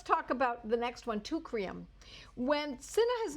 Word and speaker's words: Teucrium: Okay, now let's talk about the next one, tucrium. When cinna has not helped, and it's very rare that that ever happens, I have used tucrium.